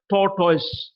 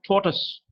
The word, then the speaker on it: tortoise: huge problem for us suppose we take the word T o R T oh I s e would pronounce that thought noise butter person whose mother tongue is English would pronounce it as tortoise tortoise and tore toys